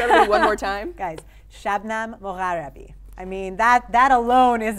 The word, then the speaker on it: Shabnam Mogharabi: Do you want to just pronounce it properly for everybody one more time? Guys, Shabnam Mogharabi.